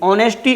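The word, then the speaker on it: honesty: ऑनेस्टी इज the best policy. H silent है लेकिन लिखना है, वरना वायलेंट हो जाएगा, ध्यान रखना।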